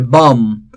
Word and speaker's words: bomb: again the last two letter b silent here bomb again the last letter b and finally tomb again the last letter b is silent here so see this is how we